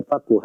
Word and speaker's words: faqih: Itu dibaca faqih ya, di babat di kebanyakan para ulama ahli hadits dibacanya itu dengan kata faqih.